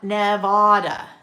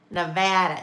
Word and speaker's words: Nevada: You wouldn't look at that and think it was pronounced that way either, right? Anemone. Sarah. Anemone. Yes. Right. Anemone. Um, let's see. Not Nevada. Okay. Nevada. Nevada. Not Nevada.